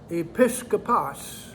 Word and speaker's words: episkopos: i-s k-o-p-o-s e-p-i-s k-o-p-o-s episcopas is the greek pronunciation episcopalis episcopal is translated